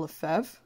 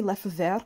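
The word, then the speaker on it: Lefèvre: karen caconan and pascal lefeve i always want to say lefov because i know it's a french name but apparently it's lefeve that's fine i'm terrible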